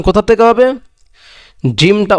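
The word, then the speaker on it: ح: এই হাটা হলো লম্বা, আর এই হাটার উচ্চারণ হলো হলকের মধ্যখান হইতে, অর্থাৎ হলকের যে কণ্ঠনালী যে আছে ওইখান থেকে একটু চেপে ধরে হাটা উচ্চারণ করতে হবে।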